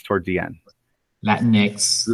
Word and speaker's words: Latinx: Latinx. You just say Latin and pause X. Yeah. Yeah. It's not to reveal a gender, like Latino, Latina. Latinx is used.